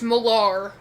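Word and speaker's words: Millar: It's spelled with an it's a R. It's Malar. Okay. But by by Miller Civil War.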